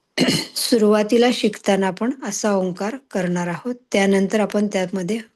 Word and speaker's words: ओंकार: हालचाल बघायची ओंकार उच्चारताना सुरुवातीला आपण अ चा उच्चार आहे तो दोन सेकंद करतो उ चा उच्चार आहे तो तीन सेकंद करतो आणि ओट मिटून मकाराचा उच्चारण आहे ते पाच सेकंद करतो सुरुवातीला शिकताना आपण असा